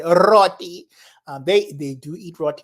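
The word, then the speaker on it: roti: replacement I think and it's roty and you have to roll your RS you say roty they they do eat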